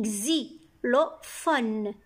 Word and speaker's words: xylophone: X se prononce X, comme dans les mots un xylophone. X ici se prononce X. X, Y c'est I. X avec I, xylophone. P avec H, les lettres P et H font le son F.